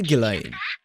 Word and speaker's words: Ghislaine: They say Ghislaine. That's how they pronounce it, so お前の子供か？